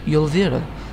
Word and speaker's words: Yulvira: And I started a Death Knight in Northrend, a Lightforged Draenei Death Knight, no less, called Yulvira, spelled with a J, pronounced with a Z.